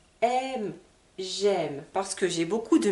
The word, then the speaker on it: j'aime: nous avons une liaison on dit pas jeaime mais j'aime donc ça sera différent